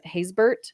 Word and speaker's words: Haysbert: Haysbert? Is that how you Haysbert.